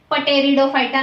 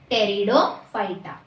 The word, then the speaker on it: Pteridophyta: यहाँ पे शुरुआत भले ही पी से हो रहा है लेकिन पी साइलेंट है, पटेरिडोफाइटा नहीं बोलते। पी को साइलेंट रखना है, बोलना नहीं है, सिर्फ लिखना है, टेरिडोफाइटा।